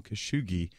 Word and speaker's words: Khashoggi: And I apologize, in the previous segment, I mispronounced the journalist, and it was just, I apologize for that. Jamal Khashoggi is his name.